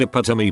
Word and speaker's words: epitome: and all that and I pronounced epidemiconically and everyone caught it I saw the looks funnily enough I heard epitome pronounced correctly on TV later that night and